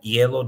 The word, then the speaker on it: hielo: with higuera, hielo, higuera, hielo, the last two words. H isn't pronounced, but the I is an E sound. So it's like hielo, higuera.